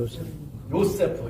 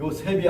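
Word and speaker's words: יוסף: 그러니까 이게 요세프라고 하는 그 이름이 이게 원래 발음대로 하려면 우리말로 하면은 이게 어떻게 되냐면 요세프 이렇게 되는 거예요. 요세프. 이게 세가 아니고 요셉이 아니고 요세프가 돼요. 요세. 센 발음 요세프.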